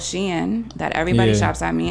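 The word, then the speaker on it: Shein: other ways so many i heard some people say shane and it is not shane it's sheen i don't know but anyway how is this spelled s-h-e-i-n-n and and uh s-h-e-i-n yeah sounds like she into me but um but yeah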